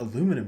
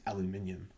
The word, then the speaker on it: aluminium: Yeah, and the way they pronounce certain words, it's not aluminum, James, it's aluminium.